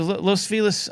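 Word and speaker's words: Los Feliz: And for those keeping score at home, that's how you say it because it was named after someone that was their name. Um, not Los, but Felis.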